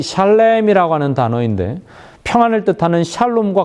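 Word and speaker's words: שלם: 평화는 샬롬이고 지불하다는 샬렘이라고 발음합니다.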